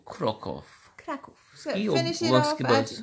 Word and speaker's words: Kraków: Oh, that was a weird pronunciation. Kraków. How we do Krakow.